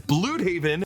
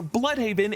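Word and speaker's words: Blüdhaven: and the fact that they pronounce a city we've always called Bloodhaven as Bloodhaven with a German umlaut over the U. I thought you were Bloodhaven. Despite James Gunn having it pronounced as the proper Bloodhaven in Creature Commandos.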